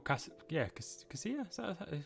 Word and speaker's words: Casilla: So the people on the bench for Leeds: Alioski, Casilla, or Casilla, it is pronounced that.